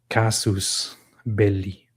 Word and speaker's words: casus belli: I'm wondering about the actual Latin pronunciation of it. Casus belli.